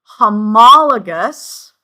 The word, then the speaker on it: homologous: So, for example, for homologous chromosomes, and it's pronounced homologous.